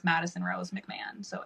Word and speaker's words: McMahon: It's McMahon. It's it's a bastardized pronunciation of a very Irish name. Okay. So, you don't really hear the H at all.